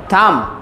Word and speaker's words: thumb: After M, B is mostly silent, just like number. It's not number, it's number. Thumb, thumb, climb, just like that.